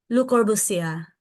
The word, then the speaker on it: Le Corbusier: So, dapat Unitis, ay, paano ba yun pag-pronounce, ma'am? Yan, sino? Le Corbusier.